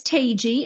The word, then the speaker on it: Tagey: If you look at it, you're not going to guess how to say it, but it's Tagey.